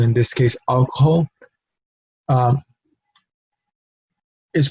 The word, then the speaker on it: alcohol: Same thing in the word hogar, alcohol, and hola. No, we spell it out. We spell the letter H in the word, of course, but we do not pronounce it because it is a silent letter in the language.